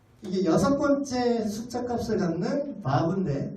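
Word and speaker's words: ו: 근데 이게 6번째 숫자 값을 갖는 바브인데 바브라고 읽어요. 바보 아니고 바브.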